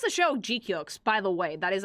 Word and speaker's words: GQuuuuux: you pronounce the show Guk by the way that is actually how you pronounce the name of the show.